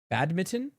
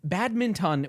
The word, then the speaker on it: badminton: even right now, I I I I feel bad mitten.